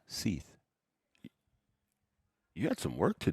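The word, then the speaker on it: Sith: It's spelled S-I-Th, but it's pronounced Seth.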